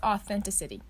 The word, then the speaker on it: authenticity: Like city, but emphasis on the sit.